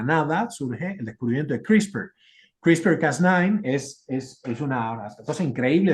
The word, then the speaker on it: CRISPR: Lo pueden buscar como CRISPR. Esto es una cosa muy importante y reciente, se pronuncia así, son unos clusters, de unas secuencias